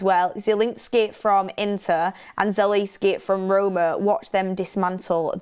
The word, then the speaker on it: Zalewski: It's Zalewski. That's what I said. Zalewski.